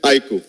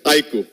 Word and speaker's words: iQOO: and on its iku the pronunciation is iku I emphasize again it's iku so that was our